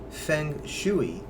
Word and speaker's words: Feng Shui: Quite interesting how that works, but I believe that Feng Shui is the more formal way to say it and does not follow the phonetic spelling.